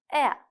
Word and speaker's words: heir: இதில் எதுலேயுமே அந்த எழுதுகிற நேரம் அந்த எழுத்து இருக்கும், ஆனால் ப்ரொனவுன்ஸ் பண்ணுற நேரம், உச்சரிக்கிற நேரம் அந்த எழுத்து இருக்காது. Silent G. Sign, high, light, through. Silent H, honest, ghost, heir.